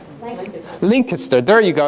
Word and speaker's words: Lancaster: don't know if you know that it's not pronounced Lancaster but it's pronounced Lincoln sir there you go it's Kurt pronounced Lincoln sir